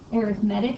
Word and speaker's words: arithmetic: sequences and geometric sequences this is pronounced arithmetic because this is the adjective arithmetic is a noun arithmetic with the adjective right so you know arithmetic when you're using it as an adjective a sequence is just